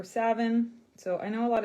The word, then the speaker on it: Samhain: how to pronounce uh s-a-m-h-a-i-n it looks like samhain um but in celtic or gaelic it's pronounced samhain or savin so i know a